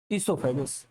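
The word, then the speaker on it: oesophagus: ईसोफेगस, ओ silent है, ईसोफेगस।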